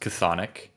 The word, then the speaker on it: chthonic: Well, it's yeah, I'm pretty sure it's pronounced chthonic.